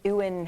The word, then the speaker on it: Ewan: Because it would be Ewan, hey, you come here. Ewan. You know, it has the potential to sound horrible. But I'll say Ewan McGregor.